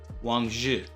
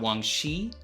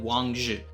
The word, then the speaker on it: Wang Zhi: To explain this, you do not pronounce the I in the name, just the ZH, so it sounds like the end of the word judge, DGE, Wang Zhi.